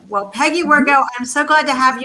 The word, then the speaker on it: Wirgau: is your last name how do you say your last name it's well peggy workout i'm so glad to